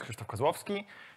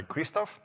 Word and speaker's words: Krzysztof Kozlowski: welcome everybody welcome everyone my name is kristofh Kowski if you don't know how to pronounce my name it can go by Kristoff I work in inar